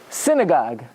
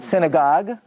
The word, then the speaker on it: synagogue: first syllable okay um synagogue not synagogue synagogue in English the emphasis is on the first syllable in Yiddish and Yiddish